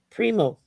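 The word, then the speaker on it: Primeaux: a x is pronounced o oh so so pronounce his last name again Primo Prim oh okayo I wouldn't have never guess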